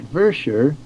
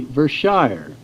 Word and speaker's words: Vershire: Nathan died in the winter of 1815 at Vershire, Orange County, Vermont, which is the same place where Sanford Porter married Nancy Warner, January 1st, 1812. It is interesting to note that we usually say Vershire, but the correct pronunciation by the people there